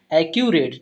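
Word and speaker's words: accurate: इसका हिंदी उच्चारण करते हैं सबसे पहले। तो इस वर्ड को ध्यान रखेंगे। क्या पढ़ते हैं? एक्यूरेट।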